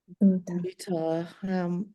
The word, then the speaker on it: mtaalamu: Mtaalam. Everybody say with me. Mtaalam. Mtaharam. Mtaalam. Mtaalam. Mitaara. Yeah, so it's a double A, so we have an A there.